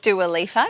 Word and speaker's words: Dua Lipa: Is that how you pronounce it? Dua Lipa, yeah.